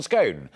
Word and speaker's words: scone: on how to pronounce scone scone 51 percent of you said it's pronounced scone as in gone only 42 percent came down on the side of rhyming it with bone three percent claim they